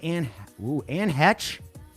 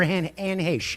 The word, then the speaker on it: Anne Heche: player Vernon Davis, actress Anne Hetch. Wow, Anne Hetch. Wow. They have to have one. Or Anne Heche, excuse me. Yeah. I said that name wrong.